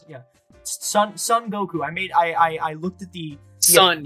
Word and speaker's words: Son Goku: and we see this wonderful main hero Goku, Son Goku, and he is so cool. That's how you pronounce it? That's yeah, that's how you pronounce it. Yeah. Exactly. Okay. That's how you pronounce it. Yeah. Son Goku.